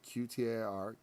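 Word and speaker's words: qtar: Q-T-A-R. Q-tar is how it's pronounced.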